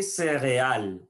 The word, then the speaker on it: céréales: Les céréales, les céréales. Voilà, je ne prononce pas le E et le S final.